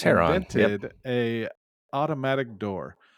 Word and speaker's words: Heron: A guy by the name of Heron, I'm terrible at pronouncing names, of Alexandria It's Heron.